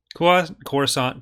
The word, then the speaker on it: Coruscant: Kuat, Coruscant, Corita, all the hard C sounds.